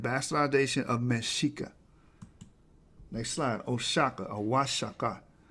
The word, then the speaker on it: Oaxaca: Oaxaca, or Oaxaca. The O in the Spanish codices is pronounced wa. The X in the Spanish codices is pronounced sh, because they couldn't pronounce